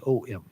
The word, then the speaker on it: Om: So there's a reason why it's spelled A-U-M as well, just to emphasize that. But the correct spelling is O-M.